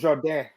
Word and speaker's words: Jourdain: Charles Jourdain.